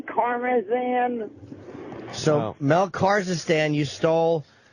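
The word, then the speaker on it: Karmazin: Kazakhstan. Kazakhstan. I know I said it wrong. I mean Karmazan.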